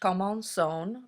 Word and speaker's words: commençons: It's still pronounced commençons. The cedilla under the C make it sound like an S.